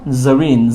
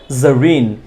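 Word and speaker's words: Zarin: একটা জেড আছে এবং জেড থাকলে এটা জ এর মত করে উচ্চারণ হবে এজন্য বলতে হবে জারিন জারিন কেউ যদি জেরিন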